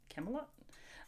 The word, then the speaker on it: Camelot: a company called Camelot pronounced not like Camelot like King Arthur's because it's see am i ´ll ot liked him a lot Camelot but yeah just cute